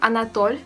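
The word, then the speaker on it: Anatole: they call her alen elen there we have anat kuragin anat is the first name and uh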